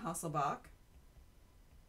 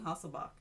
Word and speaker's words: Hasselbalch: spell these things henderson hasselbalch nobody pronounces the L you really don't hear it the equation is the